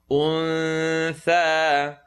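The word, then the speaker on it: الأنثى: Untha is going to be pronounced untha. Tongue not touch is going to be pronounced untha. وَمَا خَلَقَ الذَّكَرَ وَالْأُنثَى. Remember the oo, remember the cool sound. So say oo, untha, untha.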